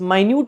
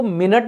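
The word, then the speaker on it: minute: concern with माइन्यूट details माइन्यूट का मतलब देखो इसको मिनट नहीं पढ़ते हैं पहली बात स्पेलिंग सेम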